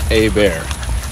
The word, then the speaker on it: Hebert: at it this way it's like the letter a and the word bear like like a bear in the woods so it's a bear okay no one can